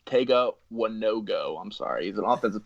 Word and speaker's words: Tega Wanogho: But Prince Tega Wanogho, it's pronounced Tega Wanogho.